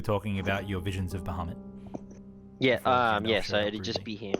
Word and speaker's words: Bahamut: by a vision of Batama. How do you say it again? I always get stuck saying it. Is it Bahamut? No. Bahamut, that's it.